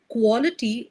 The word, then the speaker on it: quality: Again the pronunciation of quality in some places is correct but in some other places you are pronouncing it as quality. Okay. So the sound is a clear O sound.